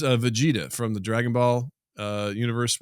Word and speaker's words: Vegeta: Vegeta. Vegeta.